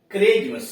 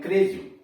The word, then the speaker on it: chrism: के बीच में CH हो तो CH का उच्चारण क होता है। जैसे क्रिज्म CHRISM क्रिज्म, ACHE एक, देख रहे हैं ना, AC के बाद H आया हुआ, यह व्यंजन है इसलिए इसको पढ़ेंगे एक।